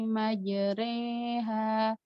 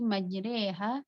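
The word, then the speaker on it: مجريها: condong itu miring jadi bacaannya tuh bukan ro bukan juga RI tapi miring di tengah-tengah antara roh dan RI Bismillahi majreha Bismillahi majreha gitu cara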